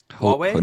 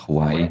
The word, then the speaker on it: Huawei: How do you pronounce them? Huawei? Not Hawaii.